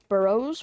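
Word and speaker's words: borough: Like is it Borro or is it burrow? Got it. Burrow. Like what moles live in but spelled different.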